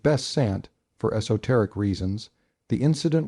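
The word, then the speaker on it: Besant: of missing the illustrious Annie bant pronounced best Sant for teric reasons the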